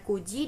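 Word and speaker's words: 九時: Untuk jam, 4 jam itu dibacanya yoji dan 9 itu kuji ya teman-teman.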